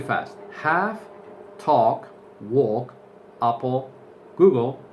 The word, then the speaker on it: Google: Many people in Spain, or most people in Spain, say Google, Google. That is incorrect. Eso es incorrecto. The correct pronunciation is Google, Google.